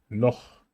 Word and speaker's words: Loch: However, acht, Buch, Loch. In those cases, you use A, U, and O, and you have to say acht, Buch, Loch.